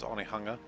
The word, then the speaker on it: Onehunga: if it's just one hanger also known as onehunga that's a New Zealand joke for those who